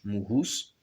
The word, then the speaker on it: Muhus: Thèse, Teso, Mous, Muhus, en prononçant le H, Muhus.